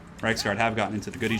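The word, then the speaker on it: Reiksguard: aren't they well the reich's card nights just should be doing something more effective all right let's get you guys surging in there hammer into these storm berman pronounced rights card have gotten into the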